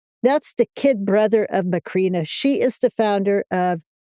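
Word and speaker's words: Macrina: How do you pronounce Basil's sister's name again? Oh, McCrina.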